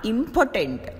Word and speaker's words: impotent: In the case of impotent, the first syllable is said with more force than the other two syllables.